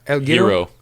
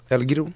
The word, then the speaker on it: El Giro: It's EL and then it's GIRO. So, El Hero. El Giro.